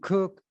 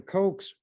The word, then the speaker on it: Koch: who has that as a name Coke some cook others cotch but the cokes pronounce it Coke this article was written or